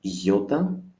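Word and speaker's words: ιώτα: Let's continue and see iota as an I, capital, small, without a dot, just as you do it, but without the dot above it. And iota, again, it's like an E in it.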